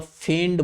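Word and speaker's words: feigned: इसका मतलब फेंड बोलते हैं इसको। क्या प्रोनाउंसिएशन करेंगे हम लोग? फेंड, फेंड।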